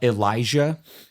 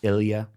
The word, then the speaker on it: Elijah: He said, "Hey, your son uh uh Elijah." Uh because it's spelled that way. Uh but it's Ilia.